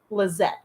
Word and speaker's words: Lizeth: It's pronounced Lizette. Okay.